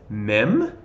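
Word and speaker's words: מ: makes the L sound mem obviously the M sound mem also has a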